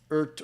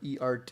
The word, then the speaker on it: EART: me saying i think earth or e-art is actually pronounced e-art electronic art i don't know why